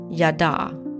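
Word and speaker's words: יָדַע: The H stands for Hebrew, and it is a verb and is pronounced yada.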